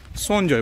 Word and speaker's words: संजय: जैसे कि अगर आप संजय बोलते हैं तो संजय को यहाँ पर सोनजॉय बोला जाता है।